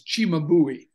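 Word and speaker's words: Cimabue: this church we had the way you pronounce his heart is chimabui we had chimabui do it they made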